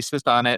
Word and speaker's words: SiSonnet: So it's spelled SiSonnet. Yeah. So like a sonnet. So anytime I introduce myself as, I say, my name's sits on it.